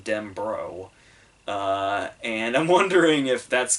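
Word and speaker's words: Denbrough: because it's like every whenever I read the book I pronounced it in my head den Burrell and then I think in all the other adaptations everybody has said den brow but when King himself speaks he calls in dem bro and I'm wondering if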